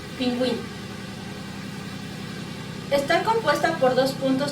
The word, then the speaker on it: pingüino: Es el signo ortográfico que sitúa sobre la vocal U en las sílabas que y ki. Para indicar dicha vocal debe pronunciarse. Ejemplo, cigüeña, pingüino.